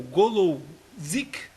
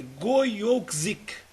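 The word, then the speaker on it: Gojowczyk: polonês que é o golou zic não tá certo né a pronúncia mas é tem um J que é goyou zic deve ser mais ou menos por aí E o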